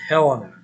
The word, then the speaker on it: Helena: It's also pronounced Helena. Kind of pronounce it really either way.